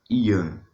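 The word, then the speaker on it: יום: Primeiro, a palavra dia, que é usada lá no versículo 17, ela significa Ian. Essa é a pronúncia dela no original hebraico.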